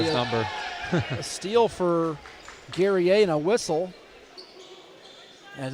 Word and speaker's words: Guerrier: pronounce his name, and there's a French version and an English version. We'll go with Guerrier today.